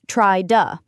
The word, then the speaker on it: try to: And the vowel into reduces to a schwah uh. So try to becomes try duh.